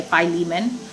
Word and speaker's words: Philemon: however you pronounce it so i'm pronouncing filament right but all the videos and like audio commentaries and stuff that i listen to say philemon so i will say